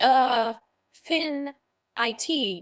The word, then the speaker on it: affinity: Affinity is a noun it's pronounced a fin it with the stress on the second syllable meaning Affinity refers to a natural